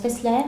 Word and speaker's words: Tessler: Alors, tu vas nous présenter, donc j'informe les internautes, c'est Tessler, ça se prononce Tessler? Tessler, tout à fait.